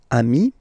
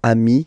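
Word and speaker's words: amis: you will get okayi so Ami remember doesn't change even if you get to write the S then you don't pronounce it okay and now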